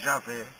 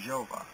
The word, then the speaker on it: Javé: bíblicos dos abinhas e a pronúncia é mais correta seria de javé e não de jeová mas como nós já